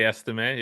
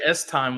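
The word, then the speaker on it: Estime: you say uh estim what how do you pronounce his name I say estim yeah okay perfect yeah that's I heard somebody say s time once and it made me question everything about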